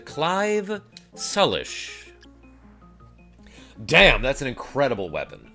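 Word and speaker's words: Claimh Solais: This is the claim sole or as I think it's supposed to be pronounced in like Gaelic or Irish, the Clive Sullish.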